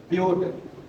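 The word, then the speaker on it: but-: तो आप लिखते हो बेटा मैथ। क्या लिखते हो बेटा? मैथ। जब सेकंड रहता है तो आप लिखोगे क्या? F math F. Third crop four ब्यूट बट नहीं ब्यूट। स्पेलिंग यही रहती है।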